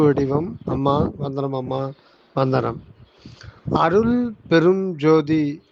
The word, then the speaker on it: அருட்பெருஞ்ஜோதி: அம்மா வந்தனம் அம்மா வந்தனம் அருட்பெருஞ்ஜோதி அப்படின்னு உச்சரிக்க கூடாதும்மா அருட்பெருஞ்ஜோதின்னு தான் உச்சரிக்கணும் அருட்பெருஞ்ஜோதியை பிரிச்சா நீங்க சொன்ன மாதிரி அருள் பெரும் ஜோதி அருள் பெரும் ஜோதி இந்த மூன்று வார்த்தைகளும் இணைக்கப்பட்ட ஒன்றுதான் அருட்பெருஞ்ஜோதி அந்த தமிழ்ல வந்து சில